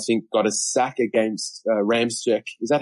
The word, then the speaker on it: Ramczyk: Danielle Hunter, I think, got a sack against Ramczyk. Is that how we pronounce? Yeah, Ramczyk, yeah.